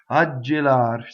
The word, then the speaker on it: gelar: So, ggelar, rolled R, one L.